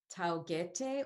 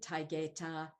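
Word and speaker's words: Taygete: And this is like, if you're going to be coming from the perspective of how the Greeks pronounce them, now we might say Taigeta, Alcyone, that type of thing. So, but I'm just trying to return us a little bit to the Greek sound of these names, because those syllables and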